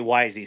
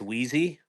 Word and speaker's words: Wheezy: So I always say wisy. So it's wheezy. My bad.